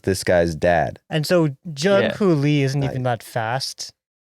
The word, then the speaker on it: Jung-hoo: I mean, Joo-Hoo Lee, brother. What, did I say his name wrong? Jung-Hoo Lee. I'm sorry, Jung. Joo-Hoo. Sorry, it's not Joo-Hoo. It's Jung-Hoo.